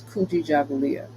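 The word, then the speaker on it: Kujichagulia: the Quanza principal is kuji Julia I'll say that slower KU G chah just like how it's spelled fulia right and that in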